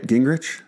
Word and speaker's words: Gingerich: Gingerich? Yes. Is that how you pronounce it?